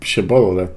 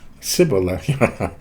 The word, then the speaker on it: Shibboleth: If he was from Ephraim, he would say Shibboleth, because people from Ephraim cannot pronounce the word correctly. Sibola.